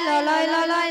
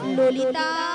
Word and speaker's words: ললিতা: বলে লালাই লালাই ললয় ললয় লালাই লালাই ললিতা। মাসি ওটা লালাই লালাইও নয় তাহলে? আর ললয় ললয়ও নয়, বলো ললিতা। লো লো লো লো। বলো ললিতা, ভালো করে উচ্চারণ করো।